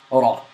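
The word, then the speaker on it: راء: This letter is pronounced from the tongue. It is a characteristic of this letter that there is repetition in this letter, but this characteristic should be avoided.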